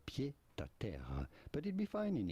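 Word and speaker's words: pied-à-terre: In French we would say pied à terre, a pied à terre, but it'd be fine in English to call it pied à terre, pied à terre.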